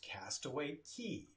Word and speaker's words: Castaway Cay: Well, it's pronounced Castaway Cay. That's the way it's pronounced. Castaway Cay is Disney's private island down in the Bahamas.